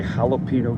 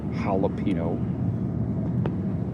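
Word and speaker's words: jalapeño: And we say jalapeno cheddar. The J is silent there, jalapeno.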